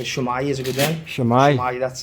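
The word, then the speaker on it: Shwmae: Shwmai.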